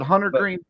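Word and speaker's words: Hunter Greene: nothing to do with is it hunter green I feel like I got that name wrong that's the yeah I think you got that right okay yeah you got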